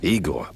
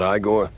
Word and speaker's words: Igor: I'm E Igor, not Igore.